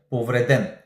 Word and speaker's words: повреден: да се знае че правилното ударение е на последната сричка повреден сега ще обясня защо